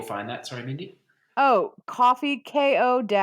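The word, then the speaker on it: Ko-fi: see how this goes have a coffee page coffee Kofi I'd really done a house pronounced but I think it's coffee okay coffee if he okay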